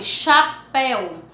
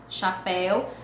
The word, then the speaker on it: chapéu: que não é pronunciada quando eu falei chapéu ch chapéu mas eu não falo h o ch combinados o